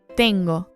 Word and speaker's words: tengo: Tengo. Resist the temptation to pronounce it tengo. With a light T and a pure O, we get tengo.